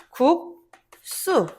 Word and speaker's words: 국수: 발음할 때 어떻게 발음해? 국수. 이렇게 발음하죠.